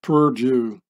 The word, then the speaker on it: perdue: by Purdue and here says Perdue in French which gets pronounced Purdue exactly like this here and just don't